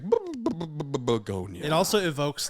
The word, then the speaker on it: Bugonia: Today is very special because we are reviewing a movie called Bugonia.